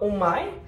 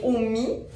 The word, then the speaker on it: OMY: C'est pas Omai, mais bien Omi. Fait que le Y se prononce comme un I. Fait qu'en tout cas, c'est pas Omai, c'est Omi. Omi Cosmétique.